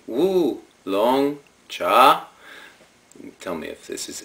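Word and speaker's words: 乌龙茶: see it but the the closest pronunciation in Mandarin Chinese is something like and here goes wo long cha I did practice that cuz it's basically woo long cha tell me if this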